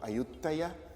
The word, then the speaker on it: Ayutthaya: And they named their capital Ayutthaya, which is of course the Thai pronunciation of Ayodhya, which is the Rama's capital.